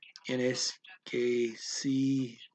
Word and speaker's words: inesquecível: Okay, little pronunciation tip. L, then the word. inesquecível. Ooh, you don't pronounce it as an L there.